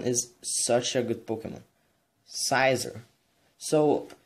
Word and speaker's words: Scizor: The last one is such a good Pokemon, Scizor. So, how you get this? You need to trade in it with having a metal coat on it so, to unlock those Pokemon. The Scizor, I believe that's how you pronounce, is really insane.